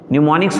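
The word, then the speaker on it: mnemonics: एम यहाँ पर silent होगा, न्यूमोनिक्स हुआ करते थे।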